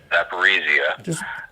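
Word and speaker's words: Zaporizhzhia: But I read from 2 days ago, a Russian official said that the IAEA proposal for secure zone around Zaporizhia, or Zaporizhia, that's the proper pronunciation.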